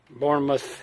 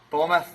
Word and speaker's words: Bournemouth: Bournemouth, did I say it right? Bournemouth.